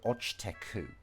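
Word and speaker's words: 落ちてく: And in this case, he has appended iku, but he just hasn't pronounced the e. So this is ochite iku, but instead he's just omitted the e. So ochiteku.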